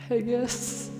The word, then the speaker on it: haggis: Haggis. Wait, why? How do you say it? Haggis. Haggis? Haggis? Haggis. It sounds like hug and then kiss.